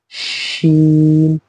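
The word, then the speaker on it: شين: तो हमने इसे पढ़ना है सीन, और इसे क्या पढ़ना है शीन।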